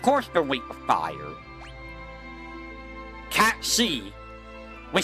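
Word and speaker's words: Cait Sith: Cat C. We say Kate Civ, but it's Cat C if you want to pronounce it properly, because it's Gaelic.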